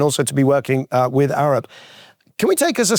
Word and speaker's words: Arup: Arup. You taught me how to say his name properly just before this. His mother was Norwegian. Arup, and he was brought in to do that.